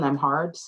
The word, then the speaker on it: Nembhard: My name, at Nembhard. Nemb, B is silent, y'all, HARD.